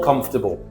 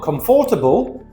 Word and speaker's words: comfortable: More comfortable. Remember, it's not comfortable. Four syllables, it's comfortable. Three syllables.